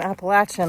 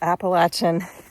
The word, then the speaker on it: Appalachian: Appalachin. I got to trying to remember to correct myself. The uh the correct pronunciation is Appalachin.